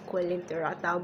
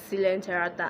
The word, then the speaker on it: coelenterata: I used to pronounce this as coelenterata, but that's actually wrong. It's coelenterata, and the animals you can find under here are the hydra and the sea anemones.